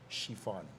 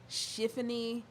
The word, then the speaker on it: Chiffani: Chiffani, Chiffany. No, I ain't say Chiffany. Somebody else said Chiffany. It's Tiffany Chiffani Salas. It kind of like rolls off your tongue.